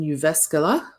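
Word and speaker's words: Jyväskylä: I was in Uvascala. That's how you pronounce that. Uvascula, University of Uvascular in the U Finnish Institute of Educational Research.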